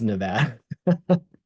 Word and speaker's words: Nevada: yourself in that neck of the woods it's Nevada you'll out yourself as as a non-local um